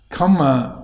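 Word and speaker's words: kāma: karma has psychological value but this is spelt k-a-m-a but i think what is meant is karma as in with an r in there because comma with karma with one with one m means sense pleasure sense desire so i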